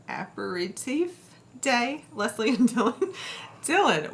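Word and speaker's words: apéritif: that word happy National aperitif I'm gonna look at this up while you answer that ask that there's another syllable in there apparate safe day Leslie and Dylan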